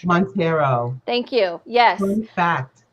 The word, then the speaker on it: Montero: I butchered it. Montero.